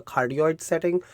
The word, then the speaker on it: cardioid: It's C-A-R-D-I-O-I-D, cardioid. That's how I pronounce it.